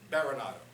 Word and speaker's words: Berenato: And it's because of that misspelling that I've actually gone back to pronouncing my last name more in the classic pronunciation, Berenato.